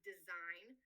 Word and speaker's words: design: So take the word design that when spelled out in English has a silent G.